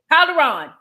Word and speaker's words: Calderon: Did I say it right? Calderon. Perfect.